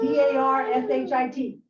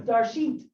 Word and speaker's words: Darshit: Pronounce D-A-R-S-H-I-T. It's Darshit, not Darshit.